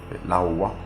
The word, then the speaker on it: Laowa: Laowa, pour prononcer comme il faut, pour voir ce que ça donne en action.